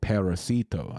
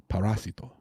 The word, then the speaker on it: parasito: I was saying paracito. I was I was very white with it. Paracito el paracito and it's parasito parasito.